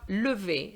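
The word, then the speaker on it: lève: have the uh because remember the er without an accent is silent so it would mean that you have no sound you would just have lv and lv without a vowel is very difficult to pronounce so we're going to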